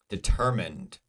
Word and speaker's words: determined: Positive, determined. Positive, determined. Pa, deter. Ter is the second syllable. It is stressed.